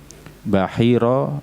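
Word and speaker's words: Bahira: Kalau setelah ro itu adalah alif mamdudah, alif yang memanjang, maka bacanya Bahiro. Tapi kalau alifnya memendek atau istilah Jawa kita alif bengkong, maka membacanya Buhairo. Kedua-duanya juga benar.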